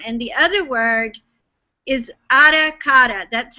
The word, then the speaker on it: Ara Kara: And the other word is aracata. That's how it's pronounced.